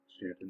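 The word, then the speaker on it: Staunton: going to add the city of Stanton which is if you're not from Virginia believe it or not the way that Stanton is pronounced and then finally wesboro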